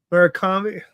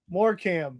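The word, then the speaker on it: Morecambe: It's pronounced Morecam.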